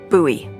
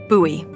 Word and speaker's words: Bowie: no warning he pulls out this huge Rusty Bowie knife it's actually pronounced buoy what no it's like the last name like David Bowie different last name buoy are you just messing with me no that's